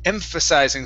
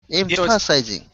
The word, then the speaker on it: emphasizing: word here is empha emphasizing so the ph is an f emphasizing precising impulse impressionizing emphasizing there you go the